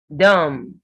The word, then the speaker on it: dumb: Lamb. Lamb. Comb. Dumb. Womb. So when you have MB ending words, the B is silent.